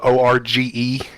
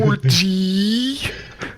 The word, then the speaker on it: Org: Org, but it's spelled O-R-G-E. Org. Org, not orgy.